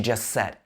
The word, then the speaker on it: just: to clarify what you just said. What you here changes to what you. Clarify what you just said. Just said. Again, we don't pronounce the t on the end of just.